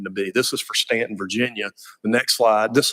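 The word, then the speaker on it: Staunton: like they're spelled so most people would say Stoughton if they've never heard of the place but it's actually pronounced Stanton and we know we're not going to get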